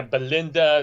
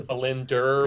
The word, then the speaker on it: Belinda: like bind yeah yeah Belinda that's opposed to belinder which mispronunciation which is constantly transpiring but but yeah so